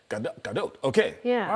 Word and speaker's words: Gadot: And the phonetic way is G-A-H-D-O-T. So you were right, Gadot. Gadot.